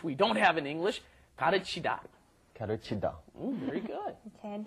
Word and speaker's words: 가르치다: You've got 가르치다. First of all, the L is right in between the R and L in English.